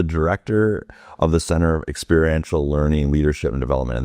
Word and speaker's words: experiential: So the Center for ELD, we call it Experiential Leadership Development. Some people say they don't know how to say it, experimental, and that's experiential.